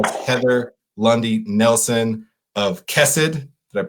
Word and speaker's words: Khesed: chow as well as ever lundi nelson of kes 'add that pronounced it right again we were working on